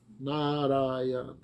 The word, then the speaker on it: Narayana: And when he said Narayana, 4 syllables, Narayana.